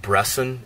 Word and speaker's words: Bresson: written and directed by robert brasson or robert bresson that's how americans would pronounce it and he's kind of